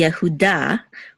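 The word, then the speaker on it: יהודה: so this is V the name by itself would be Yuda with the accent On Da but because we have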